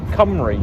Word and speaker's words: Cymru: How's that pronounced? Cymru, you said, right? Cymru. So Senad Cymru. Senate Cymru. It is definitely Cymru.